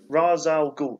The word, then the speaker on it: Ra's al Ghul: Whereas Batman went and saw I can never pronounce his name. Ra's al Ghul.